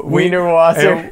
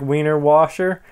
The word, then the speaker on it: Wiener Wasser: And like the water fountain is like a Wiener Wasser, and water is Wasser, so but it's spelled with W, so it looks like Wiener Washer.